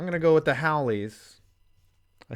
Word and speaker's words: Hawaii: In my video, I said Haoli, which is not the right way.